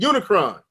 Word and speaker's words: Unicron: I think that Unicron. That's how you say it. Unicron.